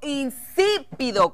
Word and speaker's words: insípido: a traer no regulo insípido con acento en la i latina insípido y latina exacto